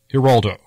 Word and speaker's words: Geraldo: so they agreed to go with the pronunciation used by the Puerto Rican side of Rivera's family Heraldo not only that Rivera